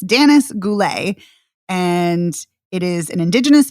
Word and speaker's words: Danis Goulet: Sorry, I'm mispronouncing her name. It's Danis Goulet, and it is an Indigenous film.